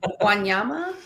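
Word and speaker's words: Wanyama: experience is the chico wanayama how do i pronounce that guys help me out there guanyama yeah okay the safari right that's where you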